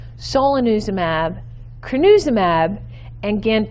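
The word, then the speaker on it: solanezumab: promising and they are a mouthful let me pronounce these for you so under drugs i have bapineuzumab so lanuza mab kryn uzum ab and Gant in orem ab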